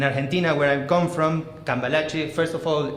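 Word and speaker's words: Cambalache: like a year ago um so yeah so calache that's how it's pronounced I'm sorry I know it's a little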